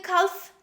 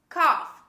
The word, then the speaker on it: cough: the next word cough don't say calf this is cough a cough is a